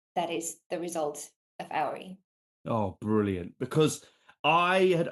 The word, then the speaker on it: Auri: Auri. Auri.